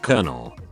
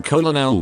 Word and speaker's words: colonel: someone else say them colonel i still find myself thinking kolonel when i read it my cousin's name